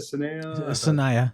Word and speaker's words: Sanaya: Sanaya, yeah.